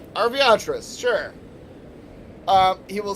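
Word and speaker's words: Arveiaturace: I've been saying it Aviatris. It has a fucking R at the start. So I think it's supposed to be Arviatris.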